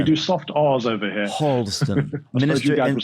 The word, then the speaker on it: Harlesden: Harlesden. It's in northwest London, a place called Harlesden. Harlesden. Yeah, we do soft R's over here. Harlesden.